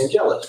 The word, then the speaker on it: Angelus: Number 309 would be, I'm going to pronounce it Angelus. Angelus, you hit it perfect.